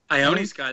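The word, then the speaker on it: Ione Skye: Is it Ione Sky? Ione Sky, that's right.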